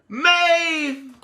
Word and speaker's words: Maeve: Maeve. Rhymes with Gabe.